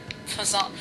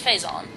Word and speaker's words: Phazon: the for source of all the the fison Fon I almost slipped back to calling it Fon